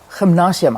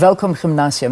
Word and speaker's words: Welkom-Gimnasium: Welkom-Gimnasium. Gymnasium. I said it wrong. So it's Yes. Welkom-Gimnasium.